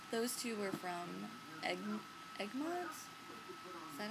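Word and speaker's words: Egmont: gorgeous in personally those two were from egg egg mon is that how you say it yeah egg mon USA publishing company and then I got this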